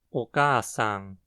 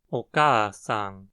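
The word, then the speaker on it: お母さん: Oka-san. O acento está na segunda mora, K, que precisa ser pronunciada com uma frequência alta, logo depois da qual a frequência cai. Oka-san.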